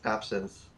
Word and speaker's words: absinthe: absinthe or absinthe? Absinthe. There's no th Absinthe. sound. It's actually it's pronounced Absinthe. like absinthe. As in John St.